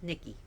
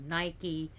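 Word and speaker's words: Νίκη: Nikki yes I said Nikki like okay so I know in America people pronounce her Nike and Nike and the shoe company calls itself Nike but her Greek pronunciation is Nikki not Nike Nikki Nikki means victory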